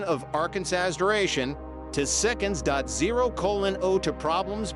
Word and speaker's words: Arkansas: The state legislature defined the official pronunciation of Arkansas as having the final SB silent as it would be in friend.